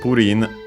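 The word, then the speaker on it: プリン: By the way, accented on the first syllable as expected.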